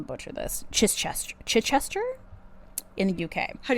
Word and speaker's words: Chichester: Chis- Ches- Chichester? In the UK. How do you spell it? c h i c h e s t e r Oh my.